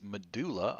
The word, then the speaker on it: medulla: A lot of people pronounce this medulla oblongata now. Um, while that may be acceptable, just understand wherever else you see this word in the body, it should be pronounced medulla.